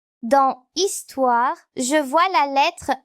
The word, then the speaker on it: histoire: Elle ne se prononce pas comme dans le mot histoire. Dans histoire, je vois la lettre H sans la lettre P à côté.